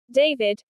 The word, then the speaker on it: D4vd: D-2 D4 VD the musical artist D4 VD pronounced David is a completely separate topic.